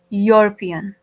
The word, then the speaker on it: European: Again here E is a vowel letter, but here again E is not giving us a vowel sound. We are pronouncing it as European, right?